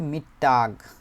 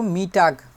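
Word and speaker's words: Mittag: এটাকে বলা হয়েছে হচ্ছে মিটটাগ শুধুমাত্র মিটাগ ট আকার গ না মিটটাগ মিট তারপরে টাক মিটটাক এই যে মিটটাক যে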